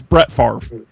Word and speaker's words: Brett Favre: Brett Favre. That's how I would say it because I'm like French coded like that. It's Brett Favre. Everyone saying his name wrong.